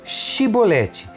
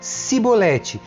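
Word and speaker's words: shibboleth: e eles o mandar vão dizer shiboleth se ele era de Efraim dizia cebolete pois o povo de Efraim não consegue pronunciar essa palavra corretamente então eles o capturavam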